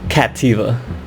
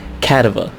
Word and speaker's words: Cattiva: think's okay next one I hear two different pronunciations of this name I call it kativa but I also hear people say cattiva kativa I think it's